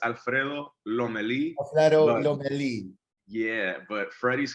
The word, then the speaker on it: Lomelí: Am I pronouncing it? Lomeli? Yeah, man, look, feel free to call me Freddy. It's Alfredo Lomeli.